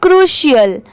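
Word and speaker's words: crucial: यहां पर सी आर यू इसे क्या प्रोनाउंस किया गया है? Crew. C आर you crew और सी आई एल को प्रोनाउंस किया गया है। सीएल सीएल। ठीक है? अब दोनों साथ में प्रोनाउंस करेंगे तो क्या होगा? क्रूशियल यह है क्रू यह शियल क्रूशियल ठीक है यह है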